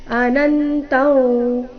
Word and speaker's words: ಅನಂತಂ: ಅನಂತಂ ಇಲ್ಲಿ ಅನುಸ್ವಾರದ ಉಚ್ಚಾರಣೆ ನಾಸಿಕಾವ ರೀತಿ.